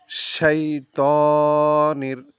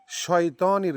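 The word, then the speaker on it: الشَّيْطَانِ: শাইতানির, শাই, সাই না, শয় না, শাই, শয়তানির না, শাইতানির, সাইতানির না, শাইতানির। শিন শক্ত আওয়াজে শীষ দেবে, শীষের মতো উচ্চারণ হবে।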